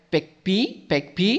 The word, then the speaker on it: PAgP: PEG-P ya. PIGP ya namanya. Tapi katanya si buku ngomongnya ya, pronounce-nya adalah PEG-P ya. Kita ngomong aja PEG-P ya.